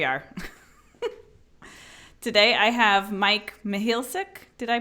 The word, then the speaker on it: Mihealsick: and here we are today I have Mike Mihal sick did I pronounce it okay that's right I was asking